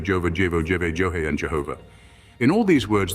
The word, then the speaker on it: Jehovah: Juha, Jeva, Jova, Jevo, Jeve, Johe, and Jehovah. In all these words, the J is to be pronounced as Y, the A as R, the E as A, and the V as W.